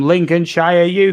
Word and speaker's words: Lincolnshire: he's for me yeah and I'm I'm from Lincoln Shire UK just to help the pronunciation of Lincolnshire UK in Amanda Australia or